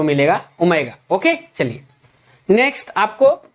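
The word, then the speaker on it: omega: इसकी स्पेलिंग साई क्या लिखोगे आप? साई। नेक्स्ट देखिए आपको ये मिलेगा, इसको बोलते हैं ओमेगा।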